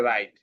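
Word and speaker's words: wrong: এটা হয়েছে রাইট। এখানে ডবলিউ সাইলেন্ট হয়ে যায়।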